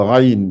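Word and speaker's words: غين: Donc ça, c'est la lettre Raïn. Raïn. Le Ra. Alors, elle est gonflée. Elle se prononce au début de la gorge. C'est la même sortie que le Kha. Kha et Raïn, c'est le même endroit.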